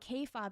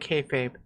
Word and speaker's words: kayfabe: She doesn't even know what kob is. How are you? I'm going to pronounce pretend I'm going to pretend she pronounced it like kayfabe the way you're supposed to pronounce it.